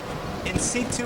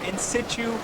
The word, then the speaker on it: in situ: but i'll talk about in situ in situ or in situ as you pronounce it doesn't really matter to me means as it was